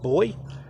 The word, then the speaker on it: buoy: you say that work vuo why is pronounced boy okay boy I don't